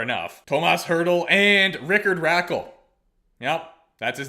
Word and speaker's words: Rakell: Tomas Hertl and Rickard Rakell. Yep, that's his name. Surely that cannot be pronounced Raquel.